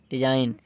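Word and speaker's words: design: ये क्या हो जाएगा डी ई एस आई जी को ना पढ़ के के एन को पढ़ेंगे डी एस आई एन डिजाइन इस प्रकार से अगला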